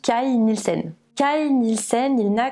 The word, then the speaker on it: Kay Nielsen: cai nilsen alors oui ça s'écrit à priori ken hill scène mais il semble que vu qu'il est danois ça se prononce kyle nissen calme il scène il